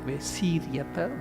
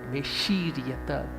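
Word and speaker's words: व्यशीर्यत: So that it is not S. It is Sha. Vyashiryata. It's not Vesiryata, but Veshiryata. Tongue should touch the palate.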